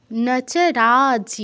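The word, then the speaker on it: রাজ্যং: হবে জয়ের সাথে কিন্তু রাজ্য বলবেন না রাজ্য বলে বাংলা উচ্চারণ হয়ে যাবে জয়ের সাথে রাজং সুখানচ তাহলে আবার পড়ছি দেখন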